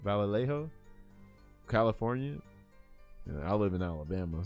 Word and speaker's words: Vallejo: By the way, this is an uh how you pronounce it? Valet V. Vallejo Vallejo California.